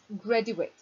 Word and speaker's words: graduate: grady wait and graduate both have the same spelling but we pronounce it differently the verb is greddy wait and the noun is graduate this is graduation noun